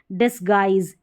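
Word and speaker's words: disguise: गाइल करके पढ़ा जा रहा है, और ये डिसगाइज, डिसगाइज इस तरीके से। तो यहाँ पर ये उच्चारण भी इसके अलग से दे रखे हैं।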